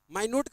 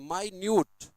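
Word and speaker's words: minute: बहुत बारीक या छोटा माइन्यूट मिनट नहीं पढ़ते इसको वो नाउन के रूप में मिनट होता है जब टाइम का यूनिट होता है ना तो उसको मिनट बोलते हैं 1 मिनट 2 मिनट्स लेकिन जब एडजेक्टिव के रूप में इसका प्रयोग होता है तो इसको माय पढ़ते हैं माय न्यूट है ना देखो आई का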